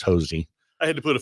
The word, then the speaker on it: Hosea: And it's Hosea, but he's from Dry Holler, so it's Hosey.